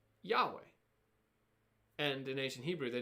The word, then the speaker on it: Yahweh: name of God himself, what scholars think today is pronounced Yahweh. And the reason why scholars have to sort of guess at how this name is pronounced is because they have the consonants, but they don't have the vowels.